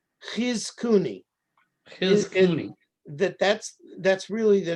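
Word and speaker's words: Chizkuni: Ghizkuni.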